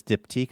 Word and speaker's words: Diptyque: And it's spelled almost the same, but it's diptyque.